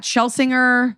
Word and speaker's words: Schlesinger: What's the most common mispronunciation, or is there one? What Dana just did deliberately or not? I can't tell if it's a bit. No, I was kidding. Okay, thank God. It's Schlesinger, Schlesinger, but I don't even